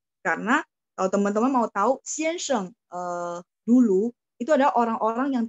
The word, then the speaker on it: 先生: Nah, untuk pininnya baik yang teman-teman belajar yang Taiwan maupun belajar yang apa sistem pinyin gitu ya, itu sheng, s-h-e-n-g, jadi memang xianseng, bunyi g kok, bunyi g.